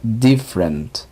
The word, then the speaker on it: different: Por ejemplo, la palabra diferente sería different, different. Hay que notar que aunque parecieran tres sílabas, solo se pronuncia en dos sílabas.